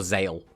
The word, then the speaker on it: Zexal: Again, I haven't watched Zexal. Like, the reason I went back and watched the Zexal I have watched, or Zale, depending on how people like to pronounce it.